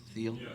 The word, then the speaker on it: Thiel: Is that how you pronounce his name? Thiel?